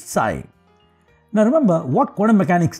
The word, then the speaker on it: psi: It's pronounced as psi and the p is silent, so it's psi.